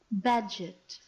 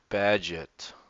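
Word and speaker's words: Bagehot: the development philosophy Walter bagot bagio should we find out how to actually say this guy's name we've read it before badget badget all right fine sometimes those are not the common pronunciation but anyway Walter badget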